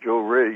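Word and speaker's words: Johrei: that's correct and that particular type of healing Joe ray you pronounced that correctly means up listening of the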